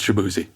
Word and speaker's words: Shaboozey: And so, that's why he apparently everybody else mispronounced it. He's like, "You know what? We'll just make it easy. It's Shabuzzi and just kind of respelled it, but made